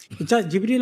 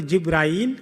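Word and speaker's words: جبريل: জিব্রীল আলাইহি সালাম এটা নাম নয়। ওনার নাম হচ্ছে জিবরীল। কেউ উচ্চারণকারী জিব্রাইল। কেউ উচ্চারণ করে জিবরীল। দুইটাই ঠিক আছে।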